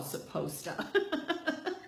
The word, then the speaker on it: supposta: raised in a culture of what I call supposta. I spell it S-U-P-P-O-S-T-A, supposta.